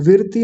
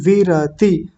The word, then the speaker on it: विरति: विरति नहीं विरति र पूरा है तो क्या बनेगा?